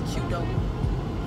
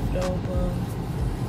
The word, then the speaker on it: Qdoba: Did you know a lot of people say it's not pronounced Qdoba, it's Qdoba.